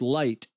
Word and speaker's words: light: i say the word light the fact that it has a g and an h in there that aren't pronounced is ridiculous the fact that it